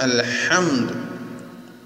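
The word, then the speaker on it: الحمد: അവിടെ നോക്കൂ, ഹായിനെ അൽഹംദുലില്ലാഹ് എന്ന് പറയരുത്, അൽഹ നേർപ്പിച്ച് പറയണം. അൽഹംദു. എന്തുകൊണ്ട് നേർപ്പിക്കണം? ഇസ്തിഫാലാണ് ഹായിന്. പിന്നെ അൽഹംദു എന്ന് പറഞ്ഞാൽ പോരാ, കാറ്റ് മഖ്റജിൽ നടത്തണം. അൽഹംദു. അൽഹ എന്തല്ല, അൽഹംദു എന്ന് വണ്ണിക്കരുത്. അൽഹംദു ലില്ലാഹി നേരത്തെ പറഞ്ഞു, ലാമിനെ നേർപ്പിക്കണം, ഹായിനെ നേർപ്പിക്കണം, ഹായിന് കാറ്റ് നടത്തണം.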